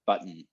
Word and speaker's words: button: pronunciation of the word button so the n in the word button doesn't have a vowel with it at all it's just it's like humming it's like there's no vowels in there i'm just